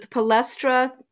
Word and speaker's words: Palestra: How do you pronounce it? The Palestra?